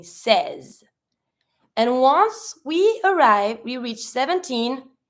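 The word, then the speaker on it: seize: The E and the I makes the sound eh. You don't pronounce the final E, so you're going to be saying says.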